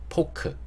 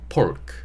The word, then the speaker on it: pork: 돼지고기를 파는 데가 있었는데 한국어에서 이 단어를 외래어로 사용할 때는 포크. 하지만 우리가 영어를 쓰는 데 있어서는 pork 이렇게 발음을 해주셔야 됩니다.